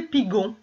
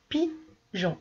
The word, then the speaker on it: pigeon: Alors, il va falloir que j'intercale un E entre le G et le O pour faire pigeon. Alors là, le E, il ne faudra pas le prononcer. Il ne faudra pas prononcer le mot, la lettre E. Tu diras pigeon. Mais tu es obligé de le mettre parce que si tu ne le mets pas, ce E, ça fera pigon.